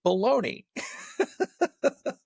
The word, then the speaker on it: Bologna: Americans generally spell Bologna, but pronounce it baloney.